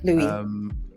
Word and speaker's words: Louis: Louis. Sorry? Louis. So it's spelled Lewis, but it's pronounced Louis. No, it's spelled Louis. Oh man, all this time. That's spelled Louis. Lewis is Lewis.